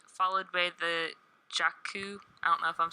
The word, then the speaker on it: Jakku: It's going to be featuring characters from episodes 7 and 8, followed by the Jakku. I don't know if I'm saying that right. Yeah, you said it right. Okay. Jakku sequence, a transmission from BB-8, and a new